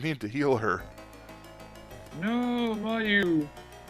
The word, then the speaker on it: Mayu: I used to pronounce it Miyu because I didn't know a proper pronunciation of Japanese names. I suppose it would be Mayu if that's the case, but whatever. Maybe. I don't. No, maybe not. If it was M-E-I, but it's M-I-E. I don't even know anymore.